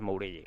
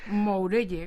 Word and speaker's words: Mourelle: este señor ni saben quién es pues lo pronunciamos de la forma no y ha perdido un poco el sentido se habla de Morel o de muguel pensando que es francés cuando es moury no de la rua Nosotros tampoco lo sabíamos